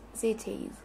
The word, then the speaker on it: cities: They raised rice outside Chinese cities. Cities. Cities. Cities. Cities. Why is this? How do you pronounce the S here? As a set. As a Z, not a said.